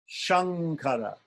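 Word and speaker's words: शङ्कर: S so the S the S in which is palatal is like Shankara Shankara what's happening there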